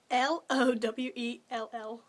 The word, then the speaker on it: Lowell: Because there actually was, you know, mail jobs in it's spelled L-O-W-E-L-L, Lowell, Massachusetts.